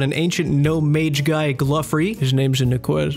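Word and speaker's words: Glouphrie: It's pronounced Gluffery.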